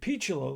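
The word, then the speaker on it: Picciolo: And the other guys had to say, Peachlow, like peach.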